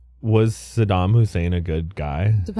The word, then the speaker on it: Saddam Hussein: Sodom Hussein. Sodom. Good. Saddam Hussein.